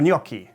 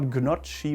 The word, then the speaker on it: gnocchi: crazy i assume gnocchi but it is not gnocchi but gnocchi gnocchi it's very close to the italian pronunciation if not the same and this is what german should call it as well gnocchi not gnocchi even though it's kind